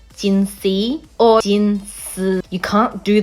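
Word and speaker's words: Jinhsi: of problems for everyone you either go Jin C like the literal pronunciation of the letter c gin C or Jin you can't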